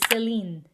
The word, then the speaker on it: Celine: in the 1950s now this one's easy it's celine so even though nashe accent selena shepard pronounced founded by celine vipiana along with her